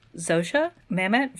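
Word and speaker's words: Zosia Mamet: And it's got my beautiful wife, Stephanie Sue, plus also, I believe pronounced Zosha Mamet from famously Girls and Other Things.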